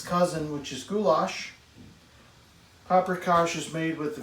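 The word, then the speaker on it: gulyás: looks like paprikas or gulas even though it's pronounced with an sh and they share in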